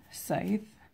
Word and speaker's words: Scythe: I was like oh don't pronounce the C okay yeah there's some